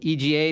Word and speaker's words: EGA: So Chris, kind of how do you pronounce it? EGA or EGA, or what's the problem? EGA typically, yeah, is what we're, yeah.